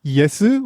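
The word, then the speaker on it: イエス: Like, for example, instead of pronouncing it Jesus, it's Yesu, which I believe is closer to whatever the original language that came from was.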